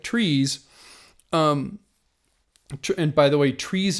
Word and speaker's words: TRIZ: know the that kind of getting back to trees I've always loved this idea of trying to